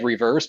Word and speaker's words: RE:Verse: It's this one is called, which it's spelled out like reverse, but when they said it in the video, it was RE-verse.